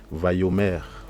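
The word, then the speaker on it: ויאמר: Ensuite nous avons Vayomer, parce qu'en fait on a le son O en fait, d'accord, le petit point O, d'accord. Au début on a vu que le mot Amar signifie dire, parler, etc. Et, ou répondre, en tout cas il y a vraiment la notion de parler, d'accord. Mais là vu que c'est s'accompagner avec ça et que vraiment c'est en action, donc ça se lit Vayomer, lo a ye ka,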